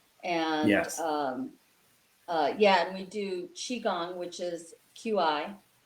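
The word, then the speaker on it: qigong: salutes real-life redo and yes yeah we do Qi Gong which is Qi it's pronounced CH AE Qi Gong which is a breathing stretching relaxation exercise right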